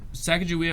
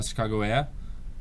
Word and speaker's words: Sacagawea: um Sacagawea Chicago uh Sacagawea is probably how the English pronounce it they probably were not going to call her a chicagoa um it just because